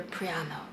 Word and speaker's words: Praiano: a place called Praiano, I think that's how I pronounce it, but the Italians say it slightly differently. They really didn't understand me. I do talk quickly and they just weren't happy with how I pronounce things, but I want to say it's Praiano.